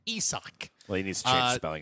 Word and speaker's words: Isaac: Now Looks like Isaac. It looks like Isaac. It's, yes, but yeah, I found out. Oh, it's that's pronounced Isak? Isak.